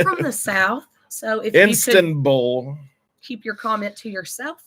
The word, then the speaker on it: Istanbul: The N in Istanbul, I was not pronouncing enough.